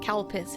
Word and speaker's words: Calpis: If you don't know what calpis is, it does not sound like what it sounds like. It's spelled C-A-L-P-I-S. It kind of sounds like something else, but it's not.